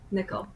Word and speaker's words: Nicoll: uh Nicole right is it Nicole is that how you pronounce it nickel nickel nickel I'm sorry okay nickel yeah I struggled when